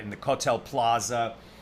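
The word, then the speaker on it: כותל: Regarding the model of the temple, Camille says, which one is the kotel, or some would pronounce it kosel, today?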